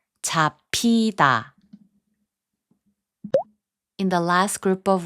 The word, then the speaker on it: 잡히다: 잡히다, which means to get caught, is pronounced as 잡히다.